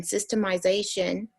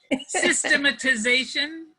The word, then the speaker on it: systematization: process of learning and systemization. Did I say it right? It's a tough one. Systematization. At systematization, which at their numbers, knowledge, and influence growth, will transform their lives, families, and communities.